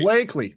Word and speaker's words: Bleakley: Uh, Blakeley. Long a Blakeley. There we go.